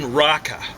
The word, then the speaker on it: Raqqa: so where where was it located in raqqa r a q q a i think is the way it's usually transcribed all the transcriptions from arabic in english aren't done very well now and my pronunciation is ridiculous but if i tried to say that q the way it's supposed to be said you'd think i was vomiting and this is actually